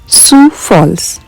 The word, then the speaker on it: Sioux Falls: तर पूर्ण फुलांच्या कुंड्यांनी रस्ता पूर्ण सजवलेला खूपच सुंदर वातावरण होत इथं सु फॉल्स याच spelling S आय ओ यू एक्स असं जरी असलं तरी उच्चार त्याचा सुसाच आहे.